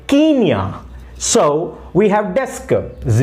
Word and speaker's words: Kenya: please pronounce Kenya now remember Kenya is the only country in the world which has not altered its name or changed its name rather it changed its pronunciation so you need to say not Kenya you have to say Kenya so we have desk